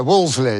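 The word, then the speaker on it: Wolseley: Is it Woollies? That's how that's how it's spelled, isn't it? Yeah, but it's Wley, isn't it? Yeah, Walsley. Yeah, like the club in London.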